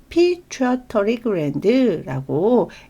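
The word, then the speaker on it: pituitary gland: 내분비계에서도 배우시게 되어 그래서요 내 뇌하수체는 피처토리그랜드라고 읽는다 얘는 조금 잘 기억을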